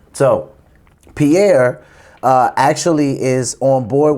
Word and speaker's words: Pierre: we want better and Pierre ol um and yes I am pronouncing his name the way he says that um it should be pronounced without saying it with the French accent so Pierre uh actually is on